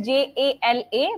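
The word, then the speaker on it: जल: It is written as Jala, but it is pronounced as Jal.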